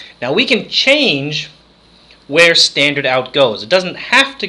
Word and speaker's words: stdout: a specific name it's called STD o UT standard out is is how it's pronounced but it's st dou T so the